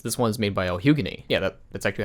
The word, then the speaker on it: lhugueny: Not to be confused with the other musical, as this one is made by El Hugany.